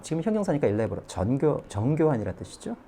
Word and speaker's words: elaborate: elaborate.